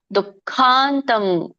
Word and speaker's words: ದುಃಖಾಂತಂ: ರಮತೆ ಹೇಳಬೇಕು ಅಭ್ಯಾಸದ್ರಮತೆ ಯತ್ರ ದುಃಖಾಂತಂ ದೊಡ್ಡ ಖ ಇದೆ ಮಹಾ ಮಹಾಪ್ರಾಣ ಇದೆ ದುಃಖಾಂತಂ ದು ದು ಇಲ್ಲಿ ವಿಸರ್ಗ ಇದೆ ದು ಮುಂದುಗಡೆ ಸೋ ಸ್ವಲ್ಪ ಹ ಉಚ್ಚಾರಣೆ ಬರಬೇಕು ದುಖಾಂತಂ ದುಃಖಾಂತಂ ದುಃಖಾಂತಂ ಅಲ್ಲ